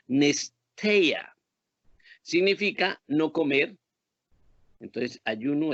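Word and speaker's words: νηστεία: En el hebreo griego viene de una palabra que se podría pronunciar como nesteia.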